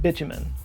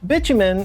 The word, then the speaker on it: bitumen: mistranslation of the word bitumen. Bitumen, or bitumen, I've heard it pronounced both ways, it's basically the same as asphalt.